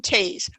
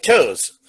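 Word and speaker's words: Toews: look at his name that's not how you pronounce that name i don't know that's wrong oh like the james river like toes how is it spelled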